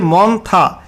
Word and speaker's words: Montha: আলিপুর আবহয়া দপ্তর জানাচ্ছে ঘূর্ণিঝড় মন্থা যার উচ্চারণ হচ্ছে মন্থা।